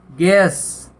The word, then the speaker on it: guess: Guard होता है चौकीदार, तो यहाँ पे यू साइलेंट है। इसी तरह GUESS, गैस, गैस होता है अनुमान लगाना।